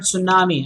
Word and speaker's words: tsunami: Check out the word tsunami. I'm sure you know that. A tsunami is one case where T is right at the start.